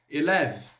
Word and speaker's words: élève: Élève, élève. No caso aqui, esse élève basicamente élève, como se eu terminasse no V, embora eu tenha o E ali na grafia, ok?